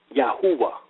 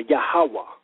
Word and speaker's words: Yahweh: yaho and that becomes yahwa which actually is the correct pronunciation of Yahweh is yahwa or yahawah how is the Hebrew